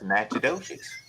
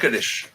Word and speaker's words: Natchitoches: Oh, I know what that's Natchitoches.